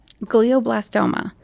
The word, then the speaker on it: glioblastoma: How did you pronounce it? Glioblastoma.